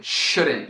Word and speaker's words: shouldn't: E encurtado formam com apóstrofo couldn't, wouldn't, shouldn't. E notem que eu não estou pronunciando o T no fim, né?